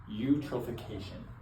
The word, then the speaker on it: eutrophication: Today, we're going to be talking a little bit about something and the environment and sustainability that's called utroofication. So, it's spelled like this eu.